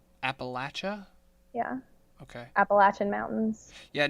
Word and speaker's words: Appalachia: deep Appalachia. Appalachia? Yeah, Okay. Appalachian Mountains. Yeah, no, I know I've never heard it pronounced that way though.